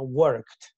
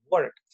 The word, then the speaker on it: worked: Entonces, se escribe, pero no se pronuncia, ¿no? Worked. Worked.